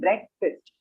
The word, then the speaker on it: breakfast: pronunciation of brexit breakfast like a short sound breakfast yeah breakfast foreign yeah